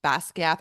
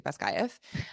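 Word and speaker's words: Basgiath: And there is, in the land of Navarre, there is a war college, Basquiat or Basquiath. I believe that's how Rebecca Yaros pronounced it in her interview, Basquiath. I'm going to say Basquiath.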